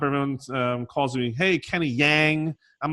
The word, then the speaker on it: Jahng: They came over, and most people with the Korean name, it's actually pronounced Jahng, and with an open aspiration, right?